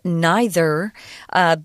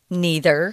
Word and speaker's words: neither: Well, unfortunately, neither, or as some people pronounce this word, neither. They're both correct. You can pick the one you want. I say neither, but a lot of people say neither. Neither of these methods is